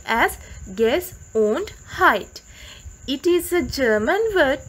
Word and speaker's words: Gesundheit: That is a funny looking word which is pronounced as Gesundheit.